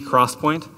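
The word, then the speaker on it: XPoint: And the next generation was recently announced about 8 months ago by Intel, called 3D Crosspoint, spelled with an X, so you know it's really cool.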